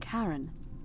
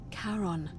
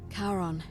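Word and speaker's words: Charon: coin just as you described it only your pronunciation is a little off the name you heard wasn't Karen it was c h a r o n as in Caron the ferryman of the Dead karon who in exchange for the right coin helps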